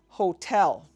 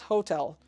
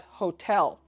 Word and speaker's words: hotel: Hotel, for example, is pronounced hotel, not hotel, but hotel, with an emphasis on tel.